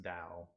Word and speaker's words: Tao: Which I think is actually pronounced Dao, but sure.